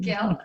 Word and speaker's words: Gehl: Is that how you pronounce it? Yeah. Okay, Gehl. perfect, Gehl.